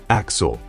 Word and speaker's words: A.X.L.: We're introduced to A.X.L., pronounced Axel, in a helpful, introductory computer simulation / marketing slideshow.